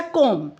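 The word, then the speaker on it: comb: इन the words given below the letter B is silent when it अपीयरर्स with M और यहां पर letter B जो है वो साइलेंट हो जाता है जब वो एम के बाद एम के बाद आता है।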